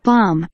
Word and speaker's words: bomb: 그다음에 Bomb. bomb. 밤은 일단 M이 소리가 안 나는, 아참 M이 소리 안 나는 거, B가 소리 안 나는 거, 뮤트라는 거, 무음이라는 거, 밤이고요.